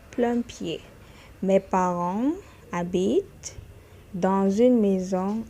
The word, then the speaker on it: habitent: Mes parents habitent dans une maison à plein pied. Please, not habitant, because you're seeing ENT there. Don't pronounce that NT.